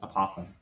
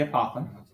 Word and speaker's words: apothem: dotted line called again i heard someone say a papa it sounds like you're saying it wrong that's the apothem but if you draw